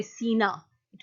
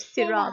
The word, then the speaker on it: Sinai: Not Sira, but it's called Kohe Ture Sina. It was called. Oh, Mount Sinai. Yes. That's what I said. Yeah, you said Sira, but that's fine. You're just kind of missing the exact pronunciation.